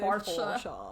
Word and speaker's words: Porsche: What if we say it Porsche, you have to say it with a German accent, so you have to say Porsche.